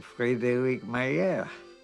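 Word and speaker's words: Frederick Mayer: they changed clothes and I pronounced my name a little different but that's it instead of Fredick mayor I became freed mayir very simple Fred infiltrates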